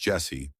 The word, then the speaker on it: Jhessye: Jesse Joshua Shockley was born on September 9th, 2006 in California. Her name is pronounced Jesse, though it would be spelled in various ways throughout the media coverage of her case.